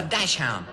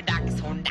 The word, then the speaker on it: dachshund: It's the Dash Hound. Hello. Uh-oh, he sounds mad. I guess I pronounced his name wrong again. I'm a dachshund, I'm a dachshund. Don't call me Dash Hound.